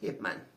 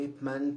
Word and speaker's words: Ip Man: E no pinyin, o nome do Ip Man parece estar com um Y, né? Depois Ip. Mas a pronúncia que eu aprendi no chinês mandarim indica que é um I, né? Que se lê-se com um I.